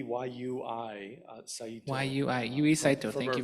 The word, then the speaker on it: Yui Saito: I pronounce it Yui, Y-U-I, Saito.